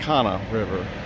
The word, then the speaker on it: Kanawha: It's not Kanawha, it's not Kanawha, it's just Kana River.